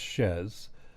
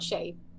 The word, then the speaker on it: Chez: name, and I know a lot of people mispronounce it with the French pronunciation of Chez, but it's Chez. Yeah, it is Chez.